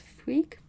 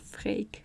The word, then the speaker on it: Freek: And this is not pronounced freak, but freek.